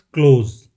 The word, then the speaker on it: close: meaning to shut something is pronounced with a Z sound at the end. That is close.